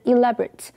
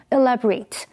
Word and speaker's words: elaborate: elaborate 这个形容词 elaborate 是指精致的或者是经过精心计划或设计的注意当它当形容词的时候 R 后面的 A 是发短音的 A念成 elaborate 例如 The finale of the fashion show is an elaborate wedding gown 这场时装秀的压轴是一件设计繁复精致的婚纱 elaborate 也可以当动词这个时候 R 后面的 A 就要发长音的 A 的音念成 elaborate 意思是详细说明或阐述例如 The chief refused to elaborate on the